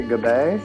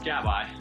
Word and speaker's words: Gabay: say the last name i want to say goodbye is that right uh it's closed it's gabba gabba and it's three years